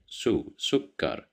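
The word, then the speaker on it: سكر: So here we have dhamma that's why we pronounce it as sue. We didn't say c or s. We said sukar.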